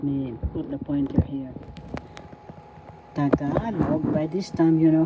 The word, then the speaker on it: Tagalog: Tagalog by this time you know how to say this. First syllable ta second syllable ka third syllable love.